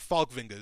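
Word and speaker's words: Falkvinge: than Rick finga and I always like to call him falinge I think that sounds like so like like a villain you know but FAL vinga is how you pronounce it but Rick finga is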